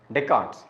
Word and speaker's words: Descartes: approaches Champion is deards wrote as Descartes but pronounced as deart deards is the champion of these approaches interactionism